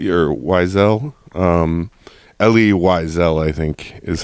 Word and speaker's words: Elie Wiesel: Elie Wiesel, or Wiesel. Elie Wiesel, I think, is how it's pronounced.